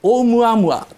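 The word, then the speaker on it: ʻOumuamua: かめはめ波と同じようにですよオウムアムワーっていう風な発音するとですねちょっと本格的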